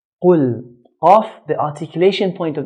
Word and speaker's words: قل: Qaf is considered to be from the 7 heavy letters in the Arabic language. So Arabs will pronounce qaf in a heavy manner. قل. قل.